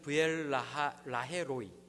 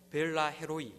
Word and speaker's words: 브엘라헤로이: 25장을 다시 보면요, 이제 아브라함이 죽고요, 이삭은 브엘라헤로이, 우리는 그냥 읽을 때 벨라헤로이 이렇게 읽는데 정확히 이제 성경을 읽으면 원어대로 하면 브엘라헤로이라고 읽을 수 있는데요, 이제 그 근처에서 살게 됩니다.